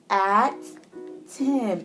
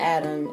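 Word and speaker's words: Atim: This is how you say her name. At Tim. A-T-I. And people have a hard time saying your name. It's not Adam. It's not a Tim.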